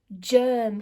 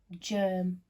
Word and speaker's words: germ: Next one, Germ. Can you remember the cheeky way this word starts? It sounds like a j, but it's actually another letter in disguise, okay? Germ.